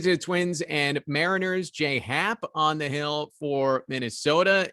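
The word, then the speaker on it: J. A. Happ: really weird but yeah his name is j hat but it's spelled j period a period so for the longest time i was calling him j.a happ and i was doing a baseball show some of the time goes why do you call him j.a hats like because that's how it's spelled and he's like no it's j hap and i was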